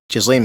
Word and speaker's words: Ghislaine: Ghislaine Maxwell.